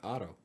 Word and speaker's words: Otto: How do you pronounce, is that Ado or Adu? Auto. Otto. Oh, Yeah, like a car.